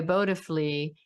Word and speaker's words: Bodhifully: So the website is, and I have to make sure I say it correctly, Bodifully. No, I didn't get it right. No, you got it right. Okay, Bodifully.